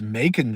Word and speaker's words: Macon: Oh, it's Macon, Georgia. I like everything that rhymes with bacon.